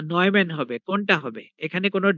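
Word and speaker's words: Neumann: আছে ডিরাইভেটিভ থাকবে না নয়মন বাউন্ডারি কন্ডিশন উচ্চারণ কিন্তু নিউম্যান হবে না উচ্চারণ হবে নয়ম্যান তাইলে আমাদের বাউন্ডারি কন্ডিশনে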